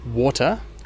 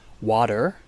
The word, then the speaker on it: water: In Britain, they'd pronounce it as water with a strong T and no R at the end. In America, they would pronounce it as water, so with a flap